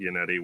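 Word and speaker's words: Yannetti: I'm not sure if it's Yianetti or Inonetti, but yeah. Um, he pronounces it. He pronounced it Yianetti when he was when he addressed the jury today.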